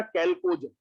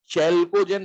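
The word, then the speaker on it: chalcogen: Group 16 का नाम क्या दिया गया बेटा, कैल्कोजन, है ना। एच साइलेंट है क्या, चैल्कोजन नहीं बोलते हैं इसको, कैल्कोजन बोलते हैं।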